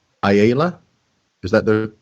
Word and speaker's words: Ayala: The last name, Ayala, is that the correct pronunciation? You're close. It's Ayala. Ayala.